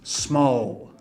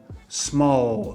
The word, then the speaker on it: small: Em inglês você tem que falar L mesmo no final das sílabas, tá? E o que o brasileiro faz normalmente? Ele não fala, ele fala U. Né? Então você vai ter palavras, por exemplo, como small, small, olha só, small, né, com L no final, é muito comum o pessoal falar small.